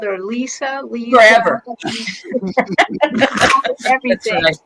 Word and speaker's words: Lise: Her name is pronounced Lisa.